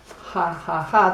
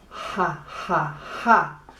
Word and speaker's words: jajaja: So if you want to laugh in Espanol, it's not ha ha ha. That is actually a. It's ha ha ha. So to laugh in Espanol, do it with la letra J.